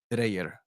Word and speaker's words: Dreyer: But I listened to the pronunciation and his highlights in Denmark. Yeah, so it's from what I understand, it's Dreyer, like Dreyer.